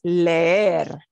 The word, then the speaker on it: leer: Well, it's leer. Leer. Leer. We drag out the S sound. We pronounce both essentially, but we drag it out.